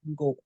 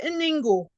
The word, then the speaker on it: Ngo: I remember I have my in-laws who their name is Ngo. Ngo. And I don't know how people here struggle to pronounce it when you can say mango. Yeah. They'll say Ningo, Ngo.